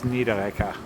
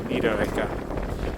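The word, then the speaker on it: Niederegger: This is Nidita. The two G's pronounced more like a K. Nida.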